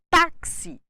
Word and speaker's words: táxi: de um assento gráfico táxi necessita do assento no caso Agudo na penúltima sílaba para que a palavra seja lida como paroxítona se não houvesse o acento os falantes tenderiam a ler a palavra como oxítona se nós não tivéssemos